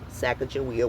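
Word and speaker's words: Sacajawea: See cash book William Clark spells sack jia with a J. Also William Clark and private George Shannon explained to Nicholas Middle the first Louiswis and Clark journal in 1814 about the pronunciation of her name and how this sounds more like a J.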